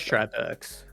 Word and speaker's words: Tripex: pronunciation guide he provided, he wrote TRAJ for the first part of his map, or name Oh, rather, okay. which I interpret as try.